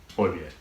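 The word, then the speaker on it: Højbjerg: I mean, even like Horbier getting hurt, that would be massive against them. Horbier. Yeah, that's how you say it in Danish.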